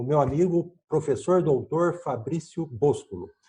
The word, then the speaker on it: Boscolo: Hoje a gente vai conversar aqui com o meu amigo, professor doutor Fabrício Boscolo. É Boscolo mesmo, Fabrício? É isso daí, certíssimo.